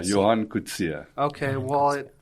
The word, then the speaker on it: Coetzee: I would say Coetzee. It's a common way of mispronunciation. Okay, how do you say it? Coetzee. Coetzee. Yeah, Johan Coetzee.